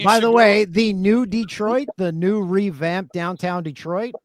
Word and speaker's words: Detroit: kept saying they're like it's not de trit it's Detroit like with one e and I'm like why